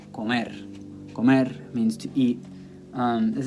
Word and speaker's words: comer: Those words, the natural stress is going to fall on the last syllable. Okay, not the second to last, the last syllable. So here you get a word like comer.